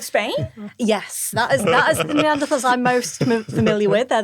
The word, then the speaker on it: Neanderthal: So you spell it with a TH, but you pronounce it Tal. Okay. Yeah. Will people be offended if I just still call them Neanderthals?